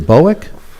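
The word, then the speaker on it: Bouck: And then Craig, is it Bowick? Is that the correct pronunciation? B-O-U-C-K? Craig Bauk. Was it? Craig Bauk. Bauk.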